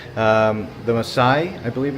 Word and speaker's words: Maasai: So believe it or not, the Maasai, I believe it's pronounced, Maasai people of Kenya drink bull's blood mixed with milk in the belief it will strengthen and protect them from evil.